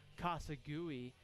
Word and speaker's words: Kasagui: I've been pronouncing that wrong all year, apparently. It is Kasagui who will come in, number 6 here, with 2 gone in the bottom of the 5th inning.